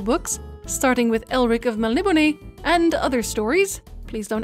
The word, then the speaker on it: Melniboné: the current physical books starting with elric of malibune and other stories please don't add me about the pronunciation this is how michael morcock himself said